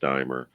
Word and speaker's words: Deimer: okay well it's it's k r t dier d i m r pronounced dier you can Google my